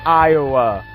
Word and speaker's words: Iowa: Iowa. Yeah. How ironic that our 4-letter state has 3 syllables. Iowa.